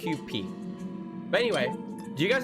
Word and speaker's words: Kewpie: If it was a Japanese pronunciation, it'd be Kewpie.